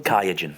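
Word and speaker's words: Qiagen: others rash is it how do you pronounce that sorry kaen kaen thank you very much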